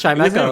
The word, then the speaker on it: Chimecho: And Yeah, it was Chimecho.